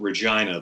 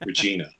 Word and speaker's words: Regina: I love that we somehow found a way to pronounce it Regina though, and not Regina.